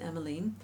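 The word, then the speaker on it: Emmeline: was a novel called em line uh some people pronounce it emiline it was in certain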